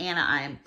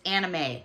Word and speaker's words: anime: really big in the anaim and I saw this and I thought these would be perfect and it's anime I said it wrong oh my god um